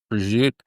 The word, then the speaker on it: prosciutto: Yeah, my Neapolitan ancestors will not let me pronounce the final vowel there. Some Italians, they drop the final vowel. Yeah, I think it's a Southern Italian thing. Yeah, I don't know. I've noticed it in around Naples.